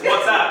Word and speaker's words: WhatsApp: Like my mom, she was mispronouncing. What's WhatsApp? It's WhatsApp, man.